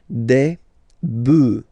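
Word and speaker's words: bœufs: So you just add this s but then pronunciation changes quite much because you get debuff du. All right then.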